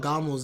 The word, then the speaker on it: Gamo: type out Gamo's name, you would have the U in the hiragana. So when you translate to English, that's why sometimes you see the U as well. But it's just a long O sound.